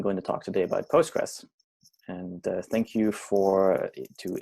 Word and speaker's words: Postgres: the in a pronunciation i say postgres mainly because it's easier to pronounce you can also say postgresql so those are the same they're interchangeable um so postgres is